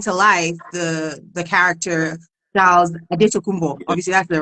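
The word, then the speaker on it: Antetokounmpo: And so obviously you had the opportunity obviously to talk to to bring to life the the character Charles Adumbo. Obviously that's the right pronunciation.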